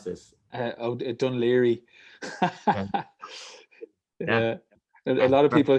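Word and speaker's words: Dún Laoghaire: How do you pronounce this? Dunleary.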